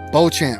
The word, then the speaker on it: Beauchamp: Beauchamp.